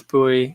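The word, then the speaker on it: Bue: right boy says you never know how to pronounce my name yeah i'm sorry about that it's bowie silent e u b b u e b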